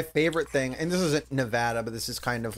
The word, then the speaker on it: Nevada: really do appreciate you pronouncing Nevada correctly as opposed to the uh ridiculous amount of Californians and TV celebrities pronouncing it Nevada Nevada yeah Nevada baby yeah we're not Louisiana there's no French accent in Nevada right here yeah yeah